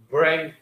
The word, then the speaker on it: bring: Thì về bring it up. Bring in ngắn, ok. Bring ngờ, giống như ngờ trong tiếng Việt, ok.